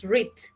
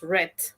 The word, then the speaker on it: read: En presente tú dices read, en pasado dices read, pero la escritura sigue siendo lo mismo.